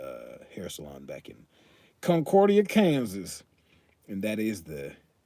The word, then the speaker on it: Concordia: and run a uh hair salon back in concordia kansas and that is the correct way uh the correct way to say that that's how you say concordia because it's a redneck town concordia kansas probably